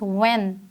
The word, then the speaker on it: when: Next word is व्हेन, इसमें हम एच को प्रोनाउंस नहीं कर रहे हैं, अगर हम इसको देखें तो इसमें WEN, व्हेन की साउंड जो है वो आ रही है।